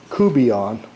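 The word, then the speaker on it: courtbouillon: to do some catfish kubeon it's written out like quart and bouillon but it's pronounced kubian by the cajuns and it's catfish cubeon these are some catfish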